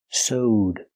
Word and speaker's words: sewed: The action so in the past is sowed. That's right. It's pronounced with a long O. Soed plus the D sound connected together. Sewed.